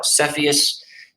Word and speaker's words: Cepheus: about the significance of each of those now cepheus is how that's pronounced cepheus is another pretty nondescript constellation uh